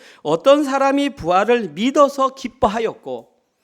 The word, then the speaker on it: 부활: 어떤 때는 복이라고 읽고 어떨 때는 부라고 읽습니다. 오늘 본문에서는 부자로 읽습니다. 그래서 부활 그 뜻을 그대로 말하면 다시 살아나다.